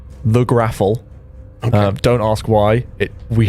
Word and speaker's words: Graffl: This is called the Graffle. Okay. Don't ask why. We have no idea why we started saying that word. It's spelled Graffl, the Graffle. Okay. I expected an E at the end of that.